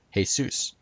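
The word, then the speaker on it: Jesús: hail Zeus comes from the Spanish name for Jesus which is pronounced hey Seuss and it actually seems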